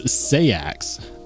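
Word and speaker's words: seax: with me about, and so I just started saying it, I just started pronouncing it like sax, is it's another way to pronounce it is sayax. Pronounce. Yeah. Yeah. But everyone pronounces it sax, so I've just adopted that. Yeah.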